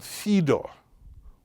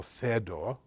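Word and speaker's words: Phaedo: length more difficult dialogue called fedo or fedo or fedo depending on your Greek pronunciation more in Greek would say fed correctly uh so uh where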